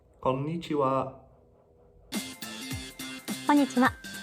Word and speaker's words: konnichiwa: switched to konnichiwa you'll notice that konichiwa has two ends in a row and you really do want to pronounce both of them so not konichiwa but konichiwa a little bit faster it's konnichiwa I need to know